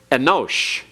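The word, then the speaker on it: אֱנוֹשׁ: Enosh. Notice the hatif segol under the aleph, very brief sound, and the holam wow, o sound.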